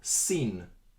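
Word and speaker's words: שׂין: a special letter because once we move this little dot from the right side to the left side the pronunciation changes from Xin to sit and the letter is now seen the English equivalent is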